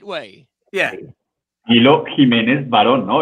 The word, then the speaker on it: Camilo Jimenez Varon: Camilo Jimenez Varon.